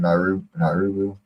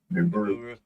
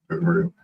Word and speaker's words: Nibiru: I ain't gonna try to pronounce it again. Nauru. Nibiru. Nibiru.